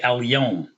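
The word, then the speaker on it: اليوم: You say Al-Yom, like the day, Al-Yom, or today, Al-Yom, okay? So these are the letters that take the Lam, where the Lam is pronounced as an L.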